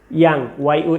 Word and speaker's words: young: এখন এই ইমেইলটা বন্ধুকেই হবে এমন কোনো কথা নেই, টু ইয়োর ইয়াঙ্গার ব্রাদার হতে পারে, ইয়াঙ্গার সিস্টার হতে পারে। ইয়াং, YOUNG, কেউ ইয়ং বলবা না, উচ্চারণটা ইয়াং, সেখান থেকে ইয়াঙ্গার, অর্থাৎ ছোট ভাই বোন